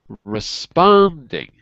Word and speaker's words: responding: And also responding. Responding. Right. Not re, but r. Or responding. I'm still hearing re. Say responding. Responding. Yeah, it's a r.